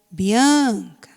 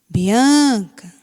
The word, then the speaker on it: Bianca: Então, eu falaria assim, Bianca, Bianca. Então, qual é a sílaba forte? Não é o an da palavra Bianca?